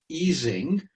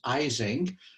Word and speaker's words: Ising: um he was german he pronounced his name in the german way of course which is easing but americans normally say it wrong as ising and you guys are